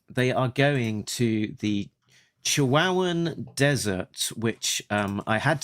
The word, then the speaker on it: Chihuahuan: Uh it's like the the dog uh the Chihuahua uh Chihuahua.